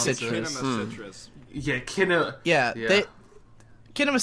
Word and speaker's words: Kinema Citrus: Cinema Citrus, or however you Kinema pronounce Citrus. it. Kinema Citrus.